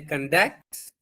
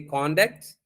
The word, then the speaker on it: conduct: you have to say conduct, or if it's a noun, you have to say conduct. You have to pronounce like away.